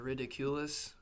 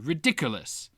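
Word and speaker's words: Riddikulus: Um, what do you think of Ridiculous? That whole the spell that stops it and all that the laughter aspect.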